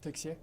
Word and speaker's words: Texier: Quelle a été la la différence entre l'ac d'abord ton nom de famille, comment tu le prononces ? Texier. Texier, parfait. D'accord. On se posait la question ça pouvait être Tessi.